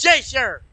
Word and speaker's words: Jason: sure i'm engaged here my name is jason say it right i mean did you